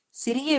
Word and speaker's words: sang: இப்ப பிளட்னு போட்டா பிளட்டுக்கு வந்து பிரெஞ்சுல சான் தான், அதுவும் SANG. அப்போ 3 ஸ்பெல்லிங் ஒரே உச்சரிப்பு. SANG சா அப்படின்னா பிளட், CENT சான்னா 100, அதுவும் வந்து அதே உச்சரிப்பு.